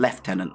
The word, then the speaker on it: lieutenant: This pun doesn't really work with the English pronunciation left tenant, though.